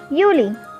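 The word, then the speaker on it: Juli: you know already that j is pronounced as y in german so the next month which is june in german it is called is uni same we have july pronounced as yuli august is august as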